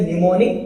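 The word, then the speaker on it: mnemonic: Am silent रहता है इसलिए इसमें निमोनिक बोला जाता है।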